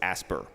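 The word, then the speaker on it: ASPR: for preparedness and response whom we refer to as asper because in DC we like to pronounce our acronyms so I'll give you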